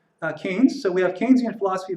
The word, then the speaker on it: Keynes: a Keynesian thinking and that's pronounced uh Keynes after the British economist John Maynard Kane so it's not Keynes but Keynes so we have Keynesian